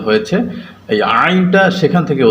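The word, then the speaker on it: ع: থেকে উচ্চারণ হয়েছে, এই আইনটা সেখান থেকে উচ্চারণ হবে, অর্থাৎ কণ্ঠনালীর মধ্যখান থেকে, যেটাকে আমরা হলক বলি, যে হলকের মধ্যখান থেকে আইন এবং হা এই দুইটা হরফ উচ্চারণ হয়।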